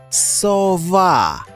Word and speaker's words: сова: Який склад наголошений у слові «сова»? Скажімо разом. Сова. Ось наголошений склад. Визначмо наголошений склад у слові «орел».